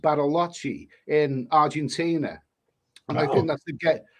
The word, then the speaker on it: Bariloche: So, well, what I read, I mean, the furthest south that I've been is a place called, I believe it's pronounced Bariloche in Argentina, and I think that is the gateway to Patagonia.